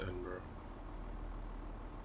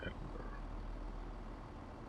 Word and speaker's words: Edinburgh: It is Edinburgh. It's Edinburgh. Just giving me a hard time about the pronunciation of Edinburgh.